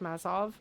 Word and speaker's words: Mazov: I have been corrected. It is in fact Mazov, and my hyper correction, so going too far, trying to pronounce it right, was wrong.